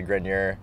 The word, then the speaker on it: Grenier: But we, as our family, say Grenier. Okay. My uncle says Grenier, the French version.